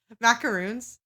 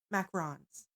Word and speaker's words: macaron: I go Maca MAA macaroons ma is that how you say it macaroons yeah or is it macarons there you go cuz there's a macaroon and there's a macaron oh we had heart-shaped macarons